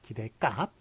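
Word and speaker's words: 기댓값: 근데 발음은 기대값으로 나니까 기대값.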